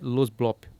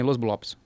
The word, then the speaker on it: Los Blops: e a banda é Los Blop. Achou O aí? S é mudo? O S é mudo? Não, você pode falar também, Los Blops. Depende da região que é falante e tal.